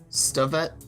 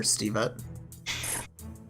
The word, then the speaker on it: Stavet: She tells her, it's actually pronounced Stavet, but the captain doesn't care. He calls her Stevet.